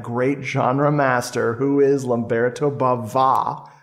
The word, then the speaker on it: Lamberto Bava: genre master who is lumberto Baba with a little uh an extra Accent on the a there one more incentive